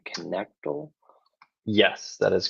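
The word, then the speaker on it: Knechtle: How do you pronounce his last name? Connectal?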